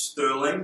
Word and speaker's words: Sterling: My name is Sterling. The E is silent.